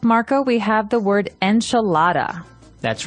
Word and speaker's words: enchilada: and just a warning you're going to hear me say the American pronunciation enchilada and you're gonna hear Marco say a more appropriate a little bit with a more Hispanic accent to it that's right so the